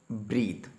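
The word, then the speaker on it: breath: देखिए, जहाँ पर हमने यूज़ किया वर्ड ब्रीथ, इसके पीछे ई लगा है। जहाँ पर ई लगी होगी वो वर्ब होता है और उसकी प्रोनाउंसिएशन होती है ब्रीथ।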